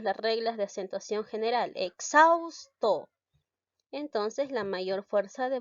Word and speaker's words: exhausto: si se escribe entonces cuando la equis está el medio entre dos vocales está x siempre se va a ir a la segunda vocal cuando lo llegó así la aviar siempre se va a la segunda vocal por lo tanto mi pronunciación cómo sería mi pronunciación ya le quitó la aumentó la h cómo sería exhausto de esta manera y xaus todo ya la equis se